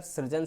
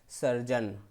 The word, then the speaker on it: सर्जन: अगला है इसी तरह अजस्र, अजस्र फिर जो हम लोग अक्सर सृजन सृजन कहते हैं, ये शब्द अशुद्ध होता है, सही शब्द होता है सर्जन।